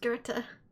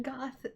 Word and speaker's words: Goth: I thought it was pronounced Goethe. She pronounced it Goth incorrectly like I used to.